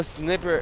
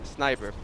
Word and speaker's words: Sniper: Now Snipper is the one. Sniper, not Snipper.